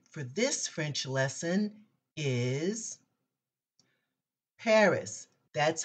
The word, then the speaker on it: Paris: our easy word for this french lesson is Paris that's how we say it in America the word Paris pronounced in the French language is phonetically it's